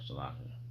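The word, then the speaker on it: Seleucia: Salakia.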